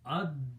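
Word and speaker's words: الدَّوَابُّ: So it will become ad-dawabu. Ad, lam is not pronounced, so it will be ad dawabu.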